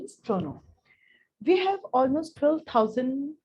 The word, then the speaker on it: Toronto: india we call it pronto so the right pronunciation is thrown on we have almost 12 000 uh 30 000